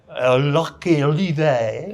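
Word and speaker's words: Lurcy-Lévis: Is that how it's pronounced in France? Lurky Levi.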